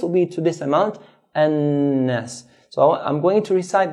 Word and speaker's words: النَّاسِ: Again, hold the noon. مَلِكِ النَّاسِ. Hold, then let go.